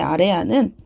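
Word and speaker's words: 아래아: 자, 아레아는 이렇게 점을 찍는 거고요. 얘 이름은 아레아. 자, 아레아입니다. 아레아는 당시 어떻게 읽었냐? 아와 오의 중간 발음이라고 말을 합니다. 그래서 아랑 오의 중간 발음이 아레아의 발음이었다.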